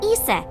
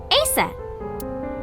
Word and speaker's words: Isis: Horace's mom has named Isis but in ancient Egyptian it's pronounced closer to ISA or ASA hmm how do I